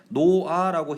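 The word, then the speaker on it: 놓아: 그 다음에 뭐 탈락이라든가 발음할 때 리을 탈락이라든가 히읗 탈락이라든가, 예를 들어서 뭐 쓸 때는 노아라고 쓰는데 우리가 발음할 때 노아라고 히읗이 사라지죠.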